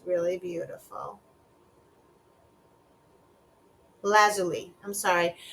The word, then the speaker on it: lapis lazuli: Lazuli. I'm sorry. I think I pronounced it wrong. Lazuli is how you pronounce it.